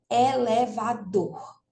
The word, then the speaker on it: elevador: Então, observe, quando a gente fala elevador, né? Então, essa última sílaba aí, o dor, é pronunciado com mais força do que as outras. Elevador, ok? Então, o dor é a sílaba tônica da palavra elevador, né?